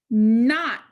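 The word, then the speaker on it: knot: Not. When you see this card say not, Not helps us remember the N sound spelled with K-N.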